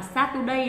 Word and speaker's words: Saturday: là Saturday đúng không Thì cái vấn đề lớn nhất khi mà người Việt Nam mình nói về cái thứ ấ là mình quên mất cái phần trọng âm Thế nên các bạn lưu ý kỹ cho mình là trọng âm của nó Dơi ở âm thích đầu tiên đó là x day